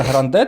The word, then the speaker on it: Grande: перший хейт Зірочка моя Гранде тобто на а наголос а вона каже Гранде тому що це більш американізм і ну вона вона змінила